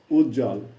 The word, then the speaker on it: উজ্জ্বল: বফলার ব্যবহার ধাপ ছয় বফালা যুক্ত ব্যঞ্জন বর্ণের সঙ্গে যুক্ত হলে তার কোন উচ্চারণ হয় না যথা সান্ত্বনা দন্তস আকার দন্তনা ত সংযুক্ত বফালা দন্তনা আকার উচ্চারণ হচ্ছে সান্ত্বনা তেমনিভাবে উজ্জ্বল তেমনিভাবে পার্শ্ববর্তী ইত্যাদি ধন্যবাদ